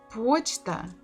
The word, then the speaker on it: почта: Почта, the second word, O is under the stress. It is stressed, so we have to say it as it is.